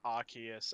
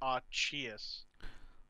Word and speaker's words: Arceus: know of is uh arceus arceus you know all that yeah some people say archies and i'm like no oh that is just wrong in so many levels abby double c firstly